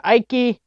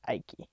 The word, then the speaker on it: Icke: David Icke, if that's how you pronounce it. I believe it's Icke.